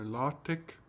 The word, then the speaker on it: LaTeX: can see what is called la tech no la tech it's spelt like latex so la tech code